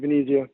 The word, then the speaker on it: Venezia: Is it Venezia? Is that how you say it? Yep, Mike Venezia.